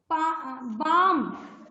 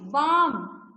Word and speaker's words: balm: Balm, palm नहीं, balm. BAM, balm. balm जानते हैं क्या? जो हेडेक्स होने पर आप यूज करते हैं balm. उसे राइट करते हैं ब्लाम, बट रीड करते हैं balm. L is silent.